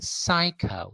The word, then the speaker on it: psycho: you so this first word is read as psycho psy psycho it's not psycho or something like that